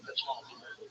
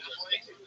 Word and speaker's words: metformin: That's like when I saw the one, was it metformin? That's not how you say it. Actually, metformin. But definitely.